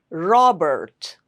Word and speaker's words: Robert: You have to make sure you are pronouncing the R sound correctly, not Robert. No, Robert. Lives.